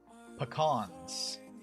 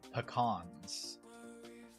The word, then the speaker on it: pecan: I feel like there is pecans. Those are pecans. They're not peacon or pecan or anything else.